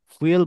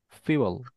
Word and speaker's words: fuel: তাহলে আমরা সারা জীবন এটা উচ্চারণ কি করতাম? ফুয়েল বলতাম। কি বলতাম? ফুয়েল। ফুয়েল। বাট এটা কি বলবেন? ফিউল। ফিও। হুম, ফিউল বলবেন আজকের থেকে।